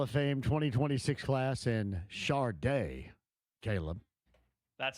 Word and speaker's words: Sade: Rock and Roll Hall of Fame 2026 class and Sade, Caleb. That's how you pronounce it, yeah.